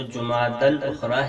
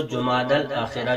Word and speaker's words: جمادی الاخری: کا چھٹا مہینہ ہے۔ اس مہینے کے نام کا صحیح تلفظ وہ جمادی الاخری ہے اور اس کو جمادی الاخرہ بھی کہا جاتا ہے۔ بہرحال تو اس مہینے